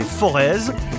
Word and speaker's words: Forez: plaine et moyenne montagne leforest parfois prononcé forez est aussi un paradis